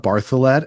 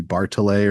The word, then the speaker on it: Bartholet: Kira Bartholet, and that is how you say her name. I wasn't sure if it would be Bartolet or something.